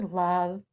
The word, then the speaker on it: love: Doesn't it look like it follows the rule of silent E? Yeah, but that O, it's not saying its name. This is not love. It's love. That O is making an sound.